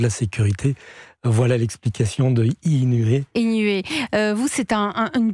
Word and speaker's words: Eenuée: vous Éric Herberger vous êtes le cofondateur de inué mais inué ça c'est ça s'écrit e e n u e e oui